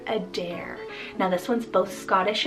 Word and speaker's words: Adair: name adair spell a d a i r a dare now this one's both scottish and irish meaning